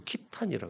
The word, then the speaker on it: 거란: 전쟁 그죠 근데 이제 거란이 아 보통이 그 키탄이라 이제 중국의 발음으로 키탄이라 그러 키탄이 케세이 이래 되고 케세이 이제 중앙아시아에는